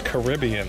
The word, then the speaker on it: Caribbean: You got me saying it wrong. It's Caribbean.